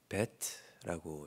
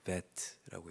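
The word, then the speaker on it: בית: 어 예 베트라고 읽습니다. 어 그런데이 모음 표기가 되어 있을 때는이 베안에 점이 있을 때는 B 발음이 나고요. 그 베트로 점이 없을 때는 V 발음이 납니다. 그래서 베트라고 이렇게 읽는데 어 오늘은 이제이 베트 어 의미로는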